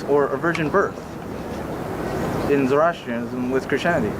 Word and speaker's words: Zoroastrianism: I can't exactly Yeah, pronounce it. Zoroastrianism, yes?